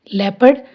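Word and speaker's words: leopard: Rule है ओ is silent in the combination of ई ओ एंड ओ यू, यानी अगर ई ओ और ओ यू का कॉम्बिनेशन बन रहा है तो वहाँ ओ साइलेंट होएगा। चलो एग्जाम्पल देखते हैं। लेपर्ड, अब देखो ई ओ आ रहा है ना, इसका कॉम्बिनेशन बन रहा है तो ओ इसमें साइलेंट है।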